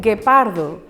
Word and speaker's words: guepardo: Atención, atención, la letra U no se pronuncia. Un animal, un guepardo, ¿sí?